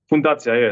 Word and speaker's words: Fundacja: I don't know how to pronounce the first word. Is it Fundacja? Fundacja, yes, it's like foundation.